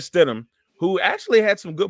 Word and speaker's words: Stidham: and and and and Jerry stood him like I said it says said his name wrong Jared said em yeah so Jared Stidham who actually had some